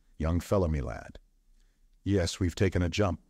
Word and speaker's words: young fellah me lad: Young fella my lad this curious phrase he pronounced as if it were all one word young fellow me lad yes we've taken a